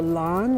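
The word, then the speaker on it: Lahn: river that it's situated on is called the Lan which is spelled l a hn and it flows from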